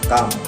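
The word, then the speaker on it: calm: सी ए एल एम इसमें L silent रहता है इसका उच्चारण निकलता है काम और इसका अर्थ है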